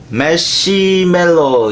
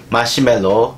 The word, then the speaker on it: 마시멜로: 오늘 제가 소개시켜드릴 책은 20, 30대 젊은 사회초년생을 위한 자기개발서, 바로 매시멜로 이야기입니다. 아, 제가 본토 발음으로 매시멜로라 했는데 마시멜로 이야기입니다. 이 책은 2005년도에 나왔어요.